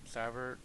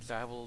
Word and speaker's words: Zavel: Real quick, all his names are Zavel, Zaver, Zabaru, Zabel, and Zavel. I think I like Zavel the best of them all. Pretty much because, that's kind of how his name was actually pronounced.